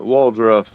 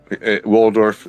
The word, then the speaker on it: Waldorf: is going to be for the Autumn uh waldruff um for the summer and staler staler uh